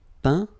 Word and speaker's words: peint: Okay, as usual, final T not pronounced. Atteint, éteint. Fin, peint, teint.